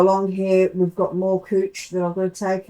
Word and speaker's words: couch: So that it's looks like couch but it's actually pronounced cooch.